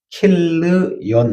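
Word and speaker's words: כִּלְיוֹן: 말론이라는 말은 원래 마흘론, 그래서 병약, 질병으로 몸이 약하던 사람이라는 뜻을 가지고 있고, 그 다음에 기론, 원래 킬르yon, 히브리의 원문은 발음을 정확하면 킬르yon, 낭비한다, 그런 뜻을 가지고 있습니다.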